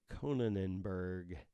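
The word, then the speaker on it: Konijnenberg: number 14 Lee Anne Conan Enberg I know you think I'm mispronouncing that but it's kon IJ n en b ER g conan Enberg weird rice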